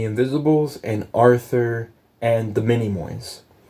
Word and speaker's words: Minimoy: and Arthur and the mini moys what is a minimoy not minion many more and it's spelled m-i-n-i so mini like Minnie Mouse like Minnie am I and I and then Moy m-o-y and I'm typing in